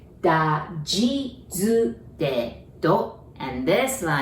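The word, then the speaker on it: じ: The second one, you would want to pronounce Z, but we don't have that sound in Japanese. So we pronounce it like J-I, G, okay?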